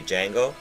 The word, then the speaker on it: Django: I I like Django was a really good movie. Jango. The J is silent, You know, it's hilarious.